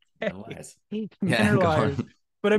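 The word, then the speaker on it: Menolias: Menelaus. I know. So, just remember, men are liars. Menelaus.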